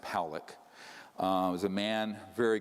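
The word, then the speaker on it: Pawelec: 600,000 views this man William Pock is pronounced poic uh was a man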